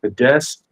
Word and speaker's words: Fidesz: It's crazy because, like, okay, like many politicians, when he was younger, he actually founded, I think it's pronounced Fidesz, The the Fidesz, yeah.